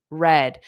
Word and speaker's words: read: So notice read the verb to read. The past simple is the same spelling but the pronunciation is different. The past is the color. The color red. Red. Okay. The color red. The present and the base verb is read. Read. Past simple red.